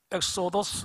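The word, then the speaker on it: ἔξοδος: 가 엑소도 수입니다 여러분 엑소 도스 라는 이 단어의 발음을 들으시면서 어 귀염 나는 바다가 없으십니까 구약성경 출애굽기 를 영어로 뭐라고 말합니까 엑소더스 라고 합니다 엑소더스 나간다 하는 벗어난다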